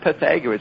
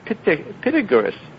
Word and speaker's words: Pythagoras: p-i-t-a-g-o-r-a-s it is pythagoras roxy's getting the old pronunciation it's not pythagoras it's pitigurus pythagoras you were there the name of the